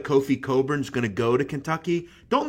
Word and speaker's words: Cockburn: that that's how his name is brown it's coburn jeff it's spelt clockburn okay walk around saying my name